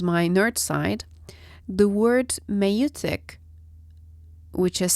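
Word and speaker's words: maieutic: This is why the Socratic method is also called the meutic method. And here comes my nerd side. The word meutic, which is spelled as M-A-I-E-U-T-I-C, comes from, as expected, an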